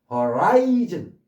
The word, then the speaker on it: horizon: 요 단어가 주로 쓰이니까 appendix에서 부록, 부가물 또는 맹장, 촉수, 돌기, horizontal 수평, horizon 이로 발음하셔야 돼요. horizon이라고 그러면 안 돼요.